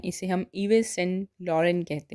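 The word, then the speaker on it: Yves Saint Laurent: YVESSAINT LAURENT इसे हम इवेस सेंट लॉरेंट नहीं कहते हैं, इसे हम इवे सेंट लॉरेन कहते हैं।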